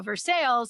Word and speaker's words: Versailles: Now, Versailles is pronounced Versailles in Kentucky, not like the place in France.